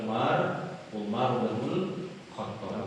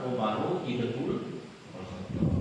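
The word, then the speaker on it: عمر بن الخطاب: Nah ini cara bacanya yang benar, karena diriwayatkan oleh Umar Ibnu Khattab, bukan Umaru Ibnu Khattab.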